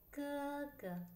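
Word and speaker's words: 哥哥: aprite le orecchie provate a sentire come si pronuncia in cinese ga ga ga ga e la quarta sempre per seguire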